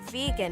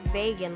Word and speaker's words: vegan: I kept correcting her in the background that it's pronounced vegan, not vegan, like rhyming with pagan, but after pronouncing it right once, she just kept saying vegan.